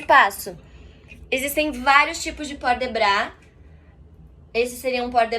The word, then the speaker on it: port de bras: algumas outras palavras também, ele não pronuncia o S no final, como a gente acabou de falar anteriormente. É bra, não brás. Não é brás, port de bras. E nem porte de bras.